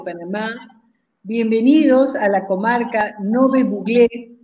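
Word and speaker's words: Ngäbe-Buglé: Bienvenidos, queridos amigos de Panamá, bienvenidos a la comarca Nove Buglé, que se pronuncia correctamente Nove Buglé.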